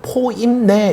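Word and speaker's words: ποίμνη: 예 그러한 문장이 합니다 여기서 무리는 헬라어로는 포임 내 이렇게 발음합니다 포임 그리고 목자는 포임맨 이렇게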